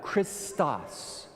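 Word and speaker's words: Χριστός: In the Greek, you would pronounce that Christos.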